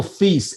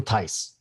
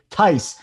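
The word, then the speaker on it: Theis: he calls him daniel feast every day and it's daniel tyse okay it's not that tough jsu tyce like mike tyson the old coach of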